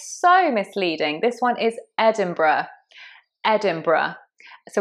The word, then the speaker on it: Edinburgh: So there is an R in there, but it's not quite in the place you expect. It's Edinburgh, Edinburgh.